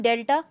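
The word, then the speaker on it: delta: इसे हम कहते हैं डेल्टा. ये जो आपको ट्रायंगुलर शेप दिख रही है इसे हम डेल्टा प्रोनाउंस करते हैं.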